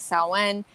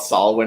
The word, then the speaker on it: Samhain: And I think in popular culture, a lot of people call it Samhain because that's what it looks like. But in pagan culture, it is called Samhain. Even though it's Samhain, it's pronounced Samhain.